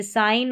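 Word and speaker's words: sign: Next है 36 पर जी एन का कॉम्बिनेशन जी साइलेंट होगा। जैसे साइन और डिज़ाइन में है। इसको साइन ग यानी जी को ग पढ़ा जाता है। तो यहां पर ग का साउंड नहीं आएगा। यह साइलेंट रहता है।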